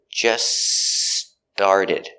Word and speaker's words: just started: We have that T in just that is between consonants. So it is silent. So you hear, just started. Not just started, just started. Link the S sound.